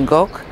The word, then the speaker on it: Gogh: nazwisko po raz pierwszy od Francuzów, którzy tak jak mnie posiadają głoski ch, która jest zapisywana za pomocą litery G. W związku z tym wymawiają to dokładnie tak jak my, Gok.